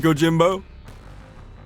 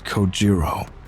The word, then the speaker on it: Kojiro: The way he deliberately mispronounces my name really bothers me. It bothers me so much that the anger boiling inside me gives me the strength to open my mouth once more. It's Kojiro.